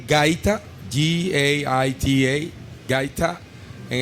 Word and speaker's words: gaita: a traditional instrument, and you will have to pronounce it for me. But okay, it's called gaita, Gaita, gaita, and it's made from the cactus.